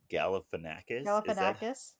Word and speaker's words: Galifianakis: Zach Galifianakis. Galifianakis? Is that how you Yes.